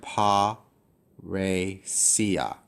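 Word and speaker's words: παρρησία: Split the double consonant, pa, re, sia.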